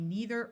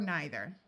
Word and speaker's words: neither: It can be neither or neither.